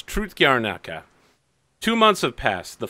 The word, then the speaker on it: Trud Gornyaka: forgot Wing it's called tro gaka I know it looks like TR but it's truth gaka two months have passed